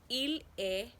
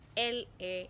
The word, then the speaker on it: il est: You will use il est. It is not elle est, even though we say une heure. When you want to say the time, you say il est.